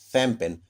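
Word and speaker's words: champagne: और ठीक उसी प्रकार देखिए शैंपेन, एक प्रकार की जो शराब होती है, CH, यहाँ से शैंपेन, स का उच्चारण हो रहा है।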